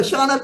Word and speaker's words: Shana: I see Shaya Kil shaana I apologize for mispronouncing your name so shaana Kila you have one minute Mahala chair no